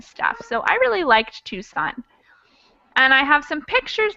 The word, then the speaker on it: Tucson: In modern day, the C in Tucson is usually not pronounced even though it was